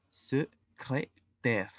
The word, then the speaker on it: secrétaire: La primer E es prácticamente muda, la segunda E se pronuncia y la combinación de letras A I se pronuncia E. Es por ello que la pronunciación es secrétaire.